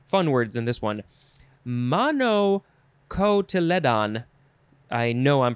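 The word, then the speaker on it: monocotyledon: the plumul okay fun words in this one mono cotyledon i know i'm pronouncing that wrong it is spelled m o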